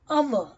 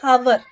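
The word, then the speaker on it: hour: pronounced it is a silent word the right pronunciation is an honest man honest on and our we don't say hover cover is not the right pronunciation you have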